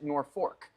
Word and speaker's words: Norfolk: but it's like Virginia most people pronounce it nor fork um yes those who